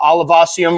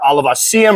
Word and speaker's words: olivaceum: All right, so we're about to rehouse my Chaetopelma olivaceum or olivaceum. I've heard it pronounced both ways.